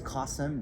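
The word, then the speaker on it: Kasim: and it's fantastic and the way I learned how to pronounce his name is casem rhymes with awesome so every time I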